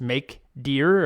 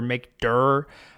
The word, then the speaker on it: mkdir: directory the command is make deer or make dur I guess I guess you pronounce it directory so make dur I always say make deer in my head it doesn't matter mkdir so this command you